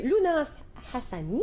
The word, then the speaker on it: Louenas Hassani: Cette fois, c'est un auteur, Monsieur Lounas Hassani. J'espère que je dis ça comme il faut. Oui, vous le prononcez très bien d'ailleurs.